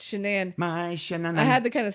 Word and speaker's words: Shanann: name shanann his wife she's a very weird pronunciation that name yeah it's not shannon it's shenan i had to kind